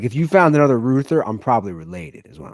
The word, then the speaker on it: Reuther: Walter Philip Ruther, but it's spelled Reuther.